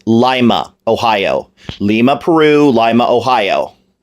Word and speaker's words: Lima: grew up closer to Lima and yes it's pronounced Lima not Lima Pierce Brosnan with all due respect to you you up in the Thomas Crown Affair it's Lima Ohio Lima Peru Lima Ohio but you're you